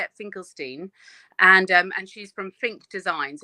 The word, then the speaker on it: Finkelstein: It's pronounced Finkelstein, like Bruce Springsteen, yes? Yes, but honestly, I don't mind too much. My husband is American Jewish, and they do the whole Steen thing out there.